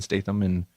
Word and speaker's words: Statham: Jason Statham.